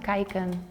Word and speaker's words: kijken: It's pronounced kijken.